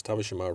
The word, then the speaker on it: Tabeshima: And yes, Tabeshima rhymes with Hiroshima.